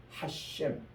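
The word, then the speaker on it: השם: 또 정통 유대인들은 아주 지금 또 금은 복장을 쓰고 금은 모자를 쓰고 이렇게 수임을 기르는 정통 유대인들은 이 단어는 하셴, 그 이분, 그분의 이름 이렇게 발음을 합니다.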